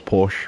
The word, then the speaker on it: Porsche: it was Porsche when I was a kid, but, as I grew up a little bit more, I realised it was actually Porsche.